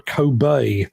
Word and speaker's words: Kobe: That right there is a Kobe, or a Kobe, if you're pronouncing it correctly in Japan.